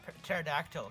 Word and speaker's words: pterodactyl: Why can't you hear a pterodactyl go to the washroom? The T is silent.